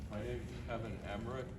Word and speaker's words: Emmerich: My name's Kevin Emmerich, it's spelled E-M-M-E-R-I-C-H.